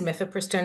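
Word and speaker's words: mifepristone: of all what is myth prone and am I saying that right yeah thanks so you are saying it right um myph pistone also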